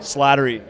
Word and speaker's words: Slattery: what's your last name slattery slattery wow that has some potential yeah it rhymes with battery and flattery never runs out of